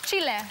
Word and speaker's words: Chile: How do you say Chile? Chile. Chile. Very good.